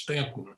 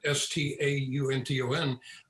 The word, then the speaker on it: Staunton: incidentally it is pronounced stanton it's spelled s-t-a-u-n-t-o-n and many people pronounce it staunton but these stantons pronounce it stanton so it's stanton road